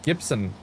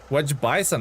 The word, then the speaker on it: Gibson: My last name pronounced Gibson. Oh, I thought it's Wedge like Wedge Wedge Bison.